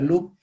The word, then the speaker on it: Louvre: museo del louvre pues como se escribe pero se pronuncia loop hay una zona muy